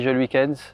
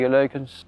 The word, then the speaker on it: Geluykens: En France, on dit Geluykens, en Belgique, on dit Geluykens.